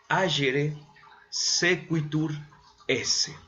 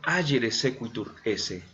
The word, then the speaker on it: agere sequitur esse: así como está aquí en la presentación, se pronuncia agere sequitur esse. Así desde hace muchos siglos, los filósofos, hablando sobre todo del ser humano, ¿verdad? Dicen agere sequitur esse.